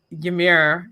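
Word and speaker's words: Ymer: Just So yeah, for this side of the draw, I mean, why couldn't somebody have given like Ymir? Is that how we pronounce his name?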